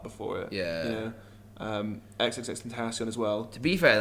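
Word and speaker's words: XXXTentacion: You know, XXX Tentacion as well. To be fair, like XXX, I don't know how to say it. It's XXX. I think it's Tentacion.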